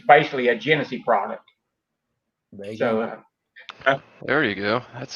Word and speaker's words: Genesee: But for the United States, it's basically a Genesee product.